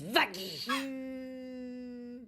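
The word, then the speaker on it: Vaggie: que ton petit nom c'était la bouchère ma chère Vie pour toutes ça se prononce Vagy.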